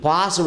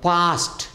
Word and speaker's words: passed: ಹಾಗೆಯೇ PASSED ಪಾಸ್ಡ್ ಅನ್ನಬಾರ್ದು, ಪಾಸ್ಟ್. ಯಾವುದೇ verb, ಯಾವುದೇ ವರ್ಬ್ ಸಕಾರದಿಂದ ಎಂಡ್ ಆಗಿದೆ, ಸಕಾರ ಸಾ ಶಬ್ದ ಎಂಡ್ ಆಗಿದ್ದರೆ ಅದು ಡಿ ಅಥವಾ ED ಸೇರಿಸಾಗ ಟಾ ಅಂತ ಮಾಡಬೇಕು.